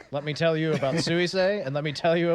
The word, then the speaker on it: Suisei: The other one's like Susie, but more complicated. Exactly. It's more Japanese.